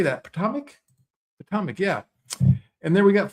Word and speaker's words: Potomac: Potomac, yeah.